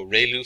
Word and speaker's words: ReLU: We have the ru is pronounced like ray the ray of from the sun and lu like a name. So ru function.